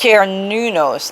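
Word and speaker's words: Cernunnos: About Sir Nunos, pronounced Nunos actually, also known as Herne, a Celtic stag god who represents connection to the earth.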